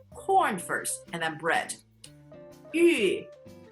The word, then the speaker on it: 玉: On the inside, your tongue is like you're saying E, and then slowly round your lips up like you're pursing it up. 玉米 Fourth tone, third tone. 玉米 And you cannot have Thanksgiving without cornbread.